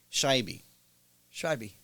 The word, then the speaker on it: Shaibi: make it easy her so the the right pronunciation for my last name is actually shy shibby yeah that's pretty easy